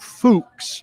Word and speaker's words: Fuchs: Scott Fuchs, rhymes or pronounced like books. Fuchs, close to trouble, is the Titans' assistant offensive line coach, handpicked by Bill Callahan, who likes this guy.